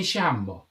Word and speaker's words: llamo: Do you know in Argentina with a double L, they pronounce it like Sean Connery? So, like yo me llamo is like what we say in Spanish. Like, you've heard that. They go, yo me llamo.